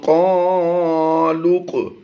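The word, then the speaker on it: قَالُوا: इस लाम व पेश लू को नहीं पढ़ेंगे, बल्कि ये वाव अलिफ और ये अलिफ, ये 3 हरूफ साइलेंट रहेंगे और इस लाम को हम इस काफ के साथ मिला देंगे।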